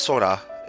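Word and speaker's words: 空: Um but that character is pronounced sora when it's alone when it's by itself and that means sky but it also emphasizes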